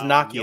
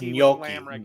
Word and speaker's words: gnocchi: He says gnocchi. It's gnocchi. Whatever.